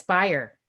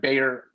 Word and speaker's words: Beyer: So What you could say is it's pronounced like Breyer's ice cream, but it's Beyer. Right, because everybody wants to call it like Bayer aspirin.